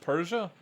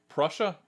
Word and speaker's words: Prussia: Red Army was advancing from the east east Persia or pers I can't pronounce it Prussia Prussia thank you I'm going to say false